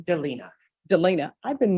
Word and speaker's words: Delina: versus how do you pronounce your first name Delina Delina I've been mispronouncing it forever uh state of Texas versus